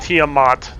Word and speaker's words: Tiamat: know its name diamond it's pronounced tiamat tim no why because they said so in their terrible places